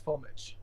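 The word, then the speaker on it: Füllmich: Yeah, well, it's the softer ich. It's für mich. But since I spent so much time in Japan and in the United States, nobody was able to pronounce it that way, so it's Filmich.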